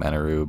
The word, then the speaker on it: Eneru: sure appearance and yes i am going to keep calling him eneroo because that's how they say it in the anime so just assume that's how it's said so anuru besides the